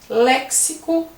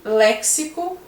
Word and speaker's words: léxico: E assim vão os outros também, as outras palavras, como sintaxe, que o X tem som de S, e léxico, que o X tem som de CS.